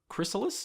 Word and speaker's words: chrysalis: Christmas Chris Kruk was it crystal wait what chrysalis is how you say it that's the idea